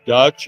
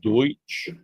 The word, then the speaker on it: Deutsch: People don't know uh Pennsylvania Dutch is because they couldn't pronounce Deutsch or they mispronounced Deutsch. So, people think of Pennsylvania Dutch and they think that's like they're descendants of the Dutch. It's not accurate. They're actually German. They just it was mispronounced the word.